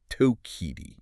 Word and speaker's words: Tokitae: wild being, they use Tokite. And I want to get this right. It's a Salish name. Yes. Coast Salish. It represents her roots in the Pacific Northwest. It's pronounced tokiti.